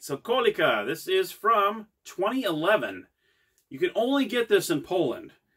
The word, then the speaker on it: Kolejka: Now, that's the pronunciation for the game. I thought it was Kolejka or some other name, but then I saw some people say, no, it's called Kolejka, that were from Poland.